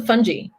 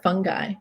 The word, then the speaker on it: fungi: How about the fungi? Right? So, or fungi, depending on where you're from and how you pronounce things, right?